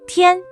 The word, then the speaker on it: 天: 一、安、烟特、烟天天天甜甜甜 This character is the first tone, so it should be 天 The origin of this character.